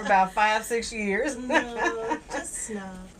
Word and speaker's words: PSNOB: The Oh, P is silent. Yeah. I've been saying peace now for about 5-6 years. No, just snob. Snob, There you got go.